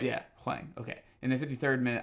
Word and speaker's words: Hwang: Yeah, Hwang.